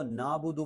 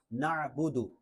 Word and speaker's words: نعبد: یوم الدین، ایاک نعبد، اس کو نعبد پڑھنا یہ درست نہیں ہے، عین ہے تو اس کو واضح کرنا ہے نعبد، اور حمزہ کی طرح جھٹکا بھی نہیں دینا نعبد، بلکہ عین ہے، حلق